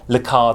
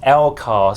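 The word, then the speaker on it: LCARS: The Next Generation inspired lekar display yeah yeah I know I mispronounced lekar is meant to be pronounced l cos some of you did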